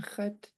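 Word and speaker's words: x̱at: Kat yake. Yeah, this underline X in khat is pronounced in the back of your throat.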